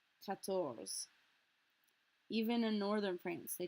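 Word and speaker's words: quatorze: to hit that R, and on 14 we kind of pretend it doesn't exist. That's because the French R and a French Z are practically impossible to pronounce next to each other. 14. It's much, much easier. We have to remember it's there when we spell it, of course. But it's much easier just to focus on pronouncing the ZE.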